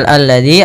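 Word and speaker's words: الذي: alladzi Kemudian pada lafal alladzi ada alif lam syamsiyah yaitu alif lam yang kita tulis tapi tidak kita baca lamnya Tapi sehingga ini langsung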